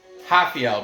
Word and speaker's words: Rafael: Rafael, because the R's are pronounced H in Portuguese.